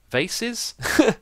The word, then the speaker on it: vase: actually how it's pronounced cuz depending on where you're from American or England it's always different over here I think it's vas but a vase in America who knows going to